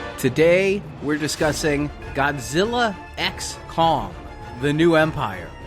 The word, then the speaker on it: x: Today we're discussing Godzilla XC Kong, the new empire. Is that how you say it? Godzilla times Kong? No, it's X.